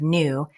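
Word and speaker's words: knew: We can know that words that have the KN diagraph where that K is not spelling any pronunciation came from old English.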